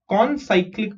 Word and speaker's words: concyclic: Points G, D, E, F are concyclic points. Okay. Isko kaise pronounce karenge? C-O-N, con and cyclic. Concyclic.